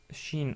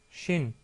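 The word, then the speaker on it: ش: En termes de prononciation, c'est aussi facile car c'est l'équivalent du son CH dans la langue française. Donc c'est exactement pareil. En anglais, on l'aurait écrit plutôt avec un SH.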